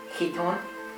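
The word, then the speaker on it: chiton: is the greek dress i believe he's pronounced hiton is the ch being a uh sound like we came welsh so this is roughly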